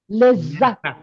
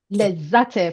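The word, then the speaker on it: لذت: A little bit we stop on that. We emphasize lezzat.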